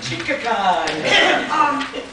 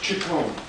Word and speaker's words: Chicon: Chicacon. It's pronounced Chicon.